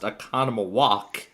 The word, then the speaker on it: Oconomowoc: It's pronounced Oconomowoc.